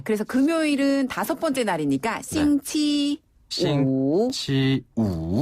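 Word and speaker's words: 星期五: 싱치우.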